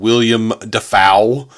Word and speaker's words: Willem Dafoe: like starting out and he pronounced his name William defaul and he's like they're like what we've all been pronouncing your name wrong this entire time and he was like